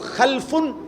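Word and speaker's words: خَلْف: একই শব্দ, শুধু উচ্চারণের মধ্যে একটু ভিন্নতা। মাঝখানে একটা লাম আছে, এই লামটার মধ্যে যদি সাকিন হয় তাইলে হলো খালফুন, আর যদি লামের মধ্যে জবর হয় তাহলে হলো খালাফুন, আরবি শব্দ।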